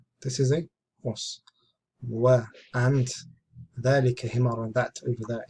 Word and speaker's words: ذلك: Note, ذلك is pronounced ذلك, but it is written without alif, because the alif is not written. But this is how it's read.